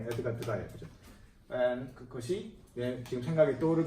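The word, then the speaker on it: Degas: 에드가 드가, 드가스가 아니라 에드가 드가예요.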